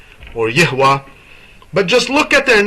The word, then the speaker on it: Yahweh: of the name of Yahwa is Yah. But if someone goes around and say Yahweh Yahweh well that's not correct.